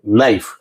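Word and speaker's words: knife: इस तरह से नाइफ, तो यहां हम लोग देख सकते हैं KN वाले वर्ड्स में के साइलेंट होता है। जिससे अगर हम लोग बात करें, यहां हम लोग पढ़ते हैं कनाइट नहीं नाइफ।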